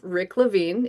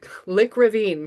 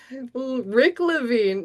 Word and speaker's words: Rick Levine: But I love Rick Levine. If you don't know Rick Ravine, guys, go look up Rick Ravine. Rick Levine. Now I'm going to say it wrong for the rest of my life.